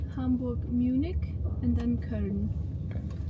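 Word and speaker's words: Köln: And actually, yeah, colon is the German way to write it, but you pronounce it kern because you have the double dots on the O. It's just kern.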